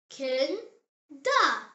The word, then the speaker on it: Kinder: The example word is Kinder. Say it. Kin da. It means children.